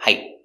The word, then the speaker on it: height: about 5'9 average height stop T we don't say height say height put the tongue up and stop the air height he was average